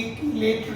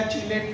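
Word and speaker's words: chelate: और रिंग संरचना को नाम देंगे कीलेट रिंग या चिलेट रिंग, प्रोनाउंसिएशन अलग अलग लोग करते हैं।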